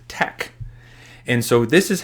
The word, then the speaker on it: TeX: markdown Tech examples so teex is pronounced Tech and so this is